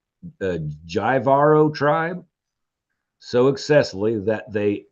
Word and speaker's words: Jivaro: it's a J, and it probably is not pronounced with a J, it's a H, but Jivaro tribe so excessively that they executed him by pouring molten gold down his throat.